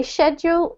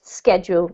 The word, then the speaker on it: schedule: know that yes so you can say sheduled all schedule up to you okay okay all right